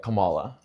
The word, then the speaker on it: Kamala: They call it or call her like Camala which is correct.